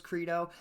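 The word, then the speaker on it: Qredo: first of which being credo ticker symbol qrdo and i had to look up how this one was pronounced i was pretty sure it was credo and it is it rhymes with torpedo k-r-e-e-d-o is how you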